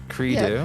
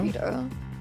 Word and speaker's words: credo: Is it like a creed? Credo. Credo. Credo. Yeah, credo. Oh, professor means credo is the end justifies the means.